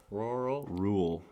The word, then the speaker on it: rural: u r a l r u r a l rural i think it's rural but some people might say like i say roll like one syllable rule seems like there should